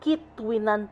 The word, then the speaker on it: Quituinan: sorry all this time Mal Pala Yung ano pronunciation KO kitan Pala Sila tapos N na tables picnic table